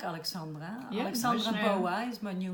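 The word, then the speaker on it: Bowa: And Boa is a name that comes from my childhood. And the band I had in France was called Boa. It's spelled B-O-W-A. So it's B-O-W-A. Oh, like Bauer.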